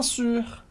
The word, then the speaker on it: sûr: E importante, aqui a gente tem a pronúncia da letra U em francês, que é a letra do biquinho, o famoso som do biquinho. U, que facilita muito se você pronunciar a letra I, e arredondar os lábios, fazendo I, U. Então vai lá na palavra sur, esse U está seguido de um R, portanto, tenta repetir comigo, bien sûr, bien sûr.